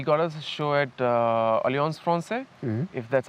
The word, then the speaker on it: Alliance Française: He got us a show at Alliance Française, if that's how it is pronounced.